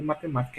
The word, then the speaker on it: matemática: Perceba que a sílaba tônica é ma, sendo que a última sílaba é K, a penúltima é ti, né, e a antepenúltima é ma. Então, se a sílaba tônica de matemática é antepenúltima, então ela é uma palavra proparoxítona.